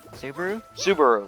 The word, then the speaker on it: Subaru: same gotcha okay uh subaru or however you pronounce it saburo sabaro subaru that's how it is yeah let's see i